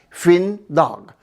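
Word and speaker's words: fin dag: it's a nice day how would you say nice day well that's fin dog findog sounds like a fin dog or a fine dog or if you look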